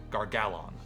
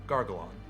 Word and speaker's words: Gar-Gal-Onn: Gar-Gal-Onn. Or phonetically, Gar-Gal-Onn.